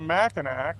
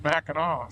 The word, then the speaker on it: Mackinac: I call it Mackinac, but I guess even with the C it's pronounced Mackinaw, so.